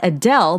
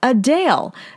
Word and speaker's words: Adele: grammy-winning singer Adele says she's actually not Adele but a Dale the artist set the